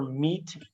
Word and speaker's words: meat: don't call it deed watch out for meat and great and threat they rhyme with sweet and straight and debt moth is not a